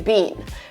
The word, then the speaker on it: been: able to speak faster, Americans sometimes pronounce double E as one E. So for example, they can say, I've never been to Japan. And so you're like, oh, this sounds like bin, like B-I-N, but it's actually bean, right? Because from a grammatical standpoint, having B-I-N there doesn't make any sense. But this is one of the ways to pronounce this word.